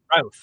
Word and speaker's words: Routh: Brandon Routh.